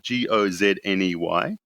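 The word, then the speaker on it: Gozney: Ghazni which is Gio said how you it's pronounced Gio Zi n ey they have they make a product called the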